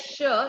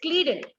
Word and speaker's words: Schleiden: Now we'll go to, or actually you can't produce it as Sher. You should produce it as Schleiden. That's a correct pronunciation.